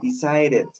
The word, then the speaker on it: decided: I decided. Y puedo volver la D como una R.